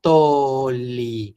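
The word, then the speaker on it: tolli: Luego tengo una aspiración, pongo mi apóstrofo y luego toli. Y acuérdense, son una doble L que nunca se pronuncia como en español G, sino solo alargo.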